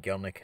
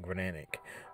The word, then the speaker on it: Gelnic: General gck so uh sorry I actually uh said his name or pronounced his name actually wrong it's actually going to be gelnick not granic but uh yeah so